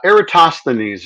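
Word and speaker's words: Eratosthenes: Number one, uh, Eratosineses is the way you want to pronounce that. Erasines, I think, as close as we can get.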